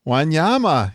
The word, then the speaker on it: Wanyama: Wanyama, yes, it is. I can tell just it's just the way it's spelled actually, I think.